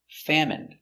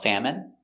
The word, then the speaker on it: famine: jasmine tea very good so remember these special words ending with i n e we pronounce them all the same in in remember medicine margarine intestine or intestines more than one genuine famine remember it's countable a famine famine and Jasmine hello welcome to English